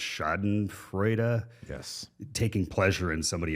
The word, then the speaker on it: Schadenfreude: Although I have been a little, there's I don't speak German, but there's the word, I think it's pronounced Schadenfreude.